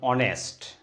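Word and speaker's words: honest: তাহলে এন বসে যেমন অনেস্ট তাহলে এন অনেস্ট হচ্ছে এইচ এর উচ্চারণটা এখানে সাইলেন্ট আছে আওয়ার এইচ এর উচ্চারণটা এখানে সাইলেন্ট আছে তাই এন আওয়ার ভিডিওটি কেমন লাগলো ভালো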